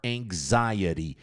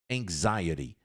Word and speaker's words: anxiety: Você sai um ao invés de X, você pronuncia um G assim, ó. Coloca o seu, a sua mão na sua garganta assim, ó. G ang eng ang eng zaiaxy anxiety anxiety anxiety.